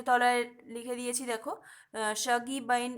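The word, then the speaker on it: Shuggie Bain: তলায় লিখে দিয়েছি দেখো সাগি বাইন এরকম সামথিংস প্রোনাউন্সিয়েশনটা হবে নেক্সট হচ্ছে কি ম্যান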